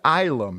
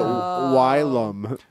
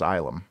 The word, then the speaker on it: Ylum: living in the Moon isum is in Asylum the last part of Asylum oh I was calling it wum well it's funny because